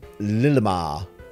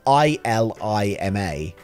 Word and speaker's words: Ilima: it's illimo isn't it it's ilima ilima not lilima illima you can now